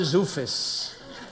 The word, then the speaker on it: Zoofus: And this is my math teacher, Mr. Zoofus. Rhymes with doofus.